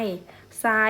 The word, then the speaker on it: ทราย: มา น้อง เล่น ทราย ทราย เรา ออก เสียง ไง คะ ทร เป็น เสียง ซอ โซ่ ใช่ ไหม ทราย เป็น